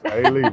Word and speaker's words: Alief: Anthony Mays is kind enough to join us from Alief Independent School District. Did I say it right? Yes, Alief, long A.